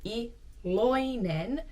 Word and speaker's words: iloinen: Actually, you should pronounce it iloinen. Sä oot iloinen. Iloinen. But I don't think I'm the only one that when speaking kind of drops the I in the middle, so it sounds more like iloinen. Sä oot iloinen. I think that's what you might hear more often, but if you are writing this word down, there is an I in it actually.